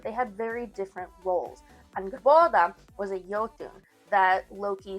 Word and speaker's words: Angrboda: Loki also has two wives, Sigyn and Angrboda, or sometimes pronounced Angerbotha.